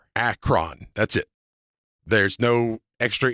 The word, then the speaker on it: Acheron: Acron. That's it. There's no extra e r is not pronounced.